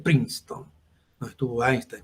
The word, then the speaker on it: Princeton: la universidad de princeton cuando lo escuchen por ahí se vienen princenton se pronuncia princeton no estuvo ahí está